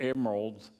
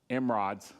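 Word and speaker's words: emerods: So, but we're going to see in a little bit that they're going to bring give uh gold tumors or emeralds, emerrods. Say it right.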